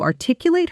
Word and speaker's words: articulate: She was able to articulate her ideas even under pressure. Fast. She was able to articulate her ideas even under pressure. Say it with me, and notice the stress falls on the second syllable.